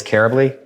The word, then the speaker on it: Karably: questions comments I do my last name is Kara bleah ka ra Bly it rhymes with terribly and yeah it's I